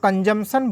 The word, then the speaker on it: consumption: लेकिन कंजम्पशन बोलते हैं लेकिन पी जाते हैं, पी को क्या करते हैं, साइलेंट कर देते हैं, पी जाते हैं।